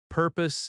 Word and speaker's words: purpose: The most important words are purpose and visit. In natural American speech, what is often becomes what's. What's the purpose of your visit? Purpose has stress on the first syllable. PUR pose.